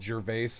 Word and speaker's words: Gervais: And just for chat searching, it is spelled Gervais, but it is pronounced Gervais.